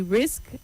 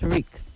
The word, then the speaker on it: risk: You say risk and not risks. The S comes before the K.